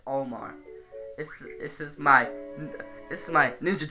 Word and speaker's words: Olimar: And I know you can pronounce it as Olimar, I just pronounce it as Olmar.